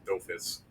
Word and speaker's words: Dofus: It probably is pronounced doofus, although watching the anime 3 episodes of it the other day, I think they do call them dofus. They call them dofus. Dofus. That's how they pronounce it.